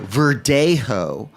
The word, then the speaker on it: Verdejo: So Verdejo, for Spanish Let's white. spell it V-E-R-D.